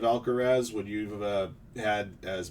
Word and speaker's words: Alcaraz: If a guy said Alcatraz instead of Alcaraz, would you have had